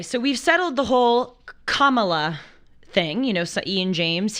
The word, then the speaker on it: Kamala: but she says it Kamala so we should say it the way she says it it's her name absolutely absolutely I completely